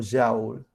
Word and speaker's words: joule: Y se pronuncia, dependiendo de si quieran pronunciarlo en inglés o en francés, joule o joule. Pero bueno, además joule era de padre inglés, pero de madre francesa, así que admite la doble pronunciación.